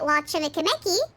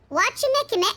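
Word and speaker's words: Wachumeqimeqi: I thought she might have reason to visit Wachimekimeki sooner or later. I said that wrong. Wachimekimeki.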